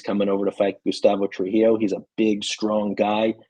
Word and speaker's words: Trujillo: So this Gustavo, how you pronounce his name? Trujillo.